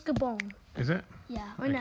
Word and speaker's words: Gabon: I'm not 100% sure how you pronounce Gabon. It's Gabon.